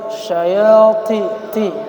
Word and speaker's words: شياطينهم: Di situ ada huruf to. Jadi to ini jangan sampai kita ada hamesnya. Syayati ti. Tapi dibersihkan ila syayati ti.